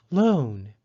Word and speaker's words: loan: Loan is spelled L-O-A-N. Because O and A are both vowels, the second vowel, A, is silent, and the first vowel, O, takes the long O sound.